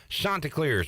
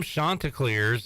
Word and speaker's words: Chanticleers: to Joe Katz and he corrected me on the pronunciation and I thought I thought I said to him chanticleers and he said it was chanticleers but no it is chanticleers am I getting it right now it is you're perfect